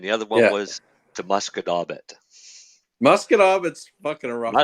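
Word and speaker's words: Musquodoboit: Because it was one way was the Shubenacadie and the other one was the Muscadaubit. Muscadaubit's fucking a rough one. Muscadaubit's hard. When people look at Muscadaubit, it's mosquito bit.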